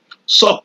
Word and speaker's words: SOC: and also incident respon sock like the short form says is pronounced sock s so which means